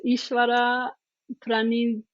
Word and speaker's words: Ishvara Pranidhana: That's another one that is difficult to pronounce. Ishvara Pranidhana.